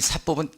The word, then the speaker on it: 사법: 그래서 요거는 조금 세게 발음하는 거예요. 사법 이렇게 발음합니다. 자, 그래서 이제 사법과 이 공법이 이렇게 되어지는데, 이 사법은 개인사죠.